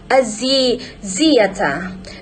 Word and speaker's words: Axiata: Axiata multi-dimensional prime symbol is pronounced Axiata.